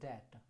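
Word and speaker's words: debt: ठीक है, अगला देखिए, a person who is unable to पे हिज डेट, इसे बोलते हैं डेट। डी ई बी टी, B silent होता है, डेट। डेट मतलब क्या होता है, कर्ज या कर्ज।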